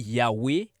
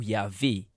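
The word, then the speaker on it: Yahweh: Dieu ce nom d'alliance qui s'écrit YHWH et qui se lit Yahwé ou yahweé traditionnellement en français nous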